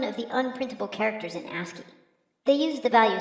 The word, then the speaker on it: ASCII: was a competing standard called ascii yes you pronounce a-s-c-i-i as ascii and it stands for the american